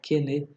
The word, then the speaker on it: Quesnay: Os principais filósofos iluministas são John Locke, Adam Smith, o Voltaire, o Rousseau, o Montesquieu, o Quesnay, que se escreve Quesnay, mas se fala Quesnay, o Diderot e o D'Alembert.